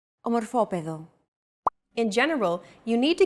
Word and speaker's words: Ομορφόπεδο: By the way, did you notice that although this word is longer than the previous one, it feels as if the syllables are pronounced faster? Όμορφος. Ομορφόπεδο.